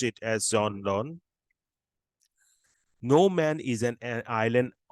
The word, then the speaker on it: Donne: This is from John Donne, or John, you can pronounce as Donny also. We will pronounce it as John Donne.